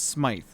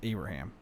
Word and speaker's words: Smyth: So to any reasonable person, it's Smythe. However, it is Abraham. Yeah, it's weird. Abraham. No, but for real, Patrick it's actually Abraham.